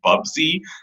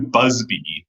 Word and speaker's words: Bubsy: wrong i like it i have half a mind to correct you on the pronunciation of the character's name that's bubsy but i also get